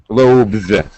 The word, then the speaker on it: loaves: weird thing all right as a noun loaf becomes Lo Loaves and the pronunciation of the S follows the same rule h a voiced sound V followed by a z pronunciation now but wait a second